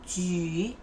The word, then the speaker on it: 举: Even you cannot see the O here, but you still have to pronounce it. Okay, so 酒酒 and 举举.